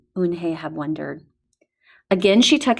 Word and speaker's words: Unhei: "Une?" the girl asked, scrunching up her face. Une? Some kids chanted. No, Unhe corrected. It's spelled Unhei. It's pronounced Unhe.